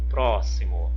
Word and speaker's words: próximo: lá como exemplo ó o próximo ó próximo próximo Olha a sílaba tônica é o pro outro exemplo que já